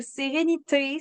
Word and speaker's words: Serenity: parler de la gamme sérénityé Sérénity ou sérénité si on prononce en français donc ça c'est vraiment